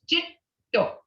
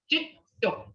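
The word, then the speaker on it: cetto: It's Jito. G-E-T-T-O. Jit. You don't say the D, the first D, because your tongue is on top of your palate. Jit. Behind your front teeth. Jito.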